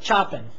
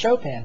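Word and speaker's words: Chopin: text it looks like choen but it's a French name and so it's pronounced chopan Frederick chopan he was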